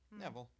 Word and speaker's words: Nevill: Neville Neville.